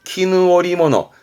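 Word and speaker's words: 絹織物: 그래서 발음이 키누오리모노, 키누오리모노로 발음됩니다.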